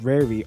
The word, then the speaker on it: Rari: And Rari, I think it's pronounced Rari, R-A-R-I, Rari or Rari tokens